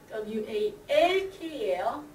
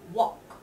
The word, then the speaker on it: walk: 거기서는 일하다는 WORK지만 걷다는 WALK예요. 걷다는 L 사운드를 무시하고 빼고 walk, walk 이렇게 해요.